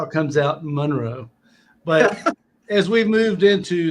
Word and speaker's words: Monroe: well i was just about to say you pronounced it wrong it's monroe it's monroe okay you say it monroe i